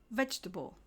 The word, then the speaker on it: vegetable: in vegetable or comfortable we stress the first syllable so we say vegetable and comfortable similarly there's no Kate